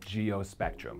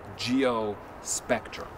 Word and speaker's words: GeoSpectrum: GeoSpectrum. Hey, Chris, we pronounce it GeoSpectrum!